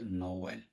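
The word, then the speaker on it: Noël: একইভাবে নোয়েলের ক্ষেত্রে এখানে পাশাপাশি দুইটা বাওয়েল আছে, সেকেন্ড বাওয়েলে থেমা আছে, তার মানে এই দুটি বাওয়েলকে আলাদা আলাদাভাবে উচ্চারণ করতে নোওয়েল।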